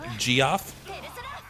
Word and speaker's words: Geoff: I know it's spelt weird, but it said Geoff, not G.